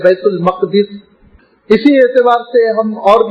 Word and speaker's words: بیت المقدس: اسی بنیاد پر ہم اردو میں کہتے ہیں بیت المقدس، لیکن صحیح عربی تلفظ ہے بیت المقدس.